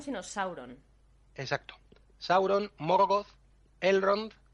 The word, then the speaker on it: Sauron: pero no se debe el hecho de que no existan palabras agudas ya nos indica cómo hay que pronunciar las palabras que tienen dos sílabas siempre en la primera son todas llanas es que no sería